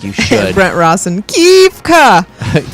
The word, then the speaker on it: Kefka: Brent Rawson, Kefka. Kefka.